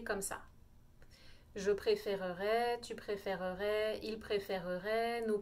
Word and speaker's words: préférerais: vais dire je préférerais si vous notez on a comme une syllabe en plus à la fin du verbe c'est comme si je disais je préfère je préfère ray je rajoute pas terminaison du conditionnel je préférerais avec nous